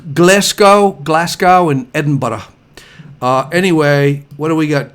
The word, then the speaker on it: Edinburgh: it's pronounced well it's edinburgh but it's pronounced like bread and butter i'm like oh i